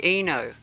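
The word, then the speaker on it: I-No: pronounced Eno.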